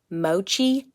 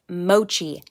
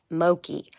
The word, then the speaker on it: mochi: know that I mispronounced mochi 5 times in this video, and I am really sorry about that. It is mochi, not mochi. Mochi. All right, carry on.